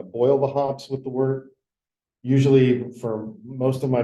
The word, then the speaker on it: wort: That word is pronounced wort.